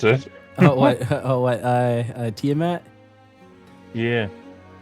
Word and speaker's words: Tiamat: A ruby holy symbol of Tiamat. Hang on, I gotcha. 1,000 gold worth of what? Of ancient coins. Coins. Yep. A ruby holy symbol of Tiamat worth 250 gold.